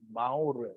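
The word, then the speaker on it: מאור: 사실은 이게 그냥 읽으면 마오르예요.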